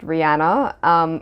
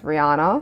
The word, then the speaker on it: Rihanna: Yes, it is pronounced Rihanna, apparently, and we have all been pronouncing it incorrectly as Rihanna.